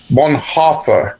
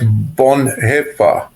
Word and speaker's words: Bonhoeffer: Um é que não é Bonha, mas Bonhefa. por causa do ditongo. O e a pronúncia é e grave, bonhe. Mas tem outro problema que é uma palavra proparoxítona.